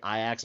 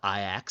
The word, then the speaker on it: Ajax: Or where they say Iax out loud. I lived many years in Amsterdam. The football team is called Ajax, spelt the exact same way and it's pronounced exactly as I said it.